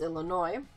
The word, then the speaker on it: Illinois: say Illinois, I'm like, the S is silent first of all, so it's Illinois, and then they're just like, well, why is there an S?